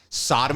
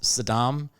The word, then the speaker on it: Saddam: Did Whitney Houston get a packet of information that said Sodom Hussein is determined to invade Kuwait? How did you pronounce Saddam?